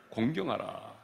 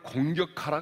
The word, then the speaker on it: 공경: 명령한 대로 네 부모를 공경하라 내 부모를 공격하라 가 아니죠 공경 하랍니다 발음을 잘 하셔야 되요 요즘에는 공격하라 사람이 너무 많아 가지고 붕어를 공격하라 가 아니라 부모를 공경하라 입니다 그러면 이 부모를 공경